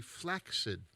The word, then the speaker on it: flaccid: was flaccid and he it's with a hard c because a lot of people do it with a soft c that's the way i say it yeah but there's two c's in it so it would be flaccid oh all right so